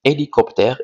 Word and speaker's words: hélicoptère: avec la lettre H h est une lettre muette c'est-à-dire ne se prononce pas alors on dit hélicoptère et pas hélicoptère que